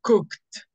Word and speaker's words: cooked: okay very good so how do you pronounce this look with t or with d cooked or cooked anything is cooked yes it's cooked every time you see